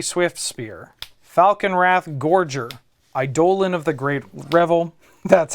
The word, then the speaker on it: Eidolon of the Great Revel: I have Mountain, Ramanap Ruins, Monastery Swift Spear, Falcon Wrath Gorger, Eidolon of the Great Revel, that's how you pronounce it, and Roiling Vortex.